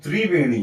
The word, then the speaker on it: त्रिवेणी: इसीलिए जो त्रिवेणी है इसका उच्चारण किया जाता है ब्रेक करके तिरवेणी।